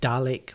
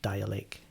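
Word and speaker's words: Dälek: you know dial it it's like Dalek but it's kind of pronounced dial ache the old hip-hop you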